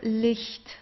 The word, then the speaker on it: Licht: So it's not H, not the strong H or so, it's Licht. It's very soft, Licht.